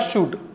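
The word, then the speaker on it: should: यहाँ letter L को ल पढ़ेंगे लेकिन यहाँ लेटर एल साइलेंट रहेगा। क्या हो जाएगा? ये कूड, ये हो जाएगा ऊड और ये हो जाएगा शूड।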